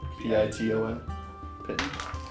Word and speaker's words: piton: It's just Pinton, right? What's it spelled like? Piton?